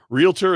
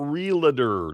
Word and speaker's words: realtor: Realtor and not real dirt. That Kevin, that's probably one of my greatest. It's realtor, not realer. Not realer.